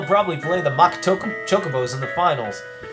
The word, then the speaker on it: chocobos: play the mock token chocobos in the finals your pronunciation is all wrong it's chocobos not Chaka bows I didn't notice me